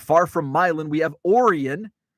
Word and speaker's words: Orion: Also, not far from Milan, we have Orion, which is spelled like Orion.